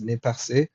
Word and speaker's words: Nez Percé: The nez percé, or the nez perce, I'm not sure how Americans would pronounce that, but it's supposed to be pronounced nez percé, which means pierced nose.